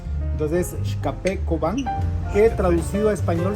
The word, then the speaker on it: Xkape: La X en el idioma local tiene la pronunciación de como la SH en inglés. Entonces, XKP Cobán, que traducido a español significa el café de Cobán.